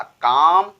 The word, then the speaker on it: calm: और एसेंशियल भी हमारा एग्जांपल था कि जब भी किसी भी वर्ड के लास्ट में यल यम का यूज किया जाए, यल यम का यूज किया जाए तो यल साइलेंट हो जाता है, यल का लोप हो जाता है, केवल यम को पढ़ा जाता है ना कि यल को।